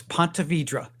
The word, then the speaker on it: Ponte Vedra: It's Ponte Vedra. Ponte Vedra. Okay, cool. And I would have butchered the name before I lived there anyway, so all good.